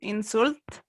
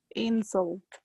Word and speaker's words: insult: In some cultures, it's considered an insult to show people the bottom of your feet. Yeah, but small change to your pronunciation. Insult. Insult. Yeah, insult. Insult. Yeah, not insult.